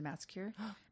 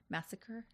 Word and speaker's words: massacre: And it contained reference to the Massicure. Massacre. Is it that one? I think I'm saying it wrong. Massacre. The Massacre, you're saying. You were saying Massicure like a manicure.